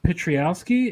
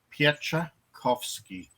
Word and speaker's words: Pietrzykowski: special guest ted um pitrialski is how i pronounce your name don't hurt yourself it's it's actually pronounced piece offski thank you but i'll